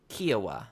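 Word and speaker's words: Kiawah: But going off a quick Google search, it's saying Kiowa, so I think you were closer. Okay. Yeah, Kauai was.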